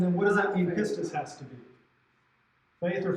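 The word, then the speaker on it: πίστις: How you pronounce Pistis. Pistis.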